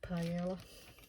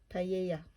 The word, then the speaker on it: paella: oops i'm sorry thing paella should i say um my son did spanish at school and he told me off for saying paella instead of paella i probably even still pronouncing it wrong anyway um so yeah